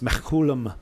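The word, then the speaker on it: Mechoulam: say it correctly it's uh his name is Mack Coulomb this Coulomb yeah and he's been studying cannabis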